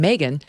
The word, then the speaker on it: Megyn: can text my name megan to 65532 now that's spelled m-e-g-y my mom said it was like ob-gyn m-e-g-y-n text m-e-g-y-n to